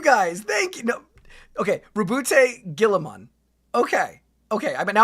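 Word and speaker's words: Roboute: One, the Ultramarines are not as Actual pronunciation, Reboot Guilliman. Okay. Oh no, Robute. It is Robute.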